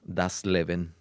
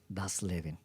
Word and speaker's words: das Leben: cómo se pronuncia en alemán? Das Leben. Das Leben.